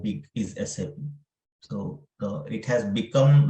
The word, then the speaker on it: SAP: Usually many people call it as SAP, like that, right?